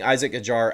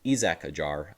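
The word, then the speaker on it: Isack Hadjar: He ends up passing Isaac Ajar at the end of the race. Excuse me, Isak Aar. I keep messing up on that. Got to remember, we got to pronounce his name the right way.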